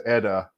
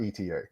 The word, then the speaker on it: ETA: ETA or Eda I actually reached out to Eda to find out the official answer and it's pronounced Eda not ETA not that yeah it doesn't matter right nobody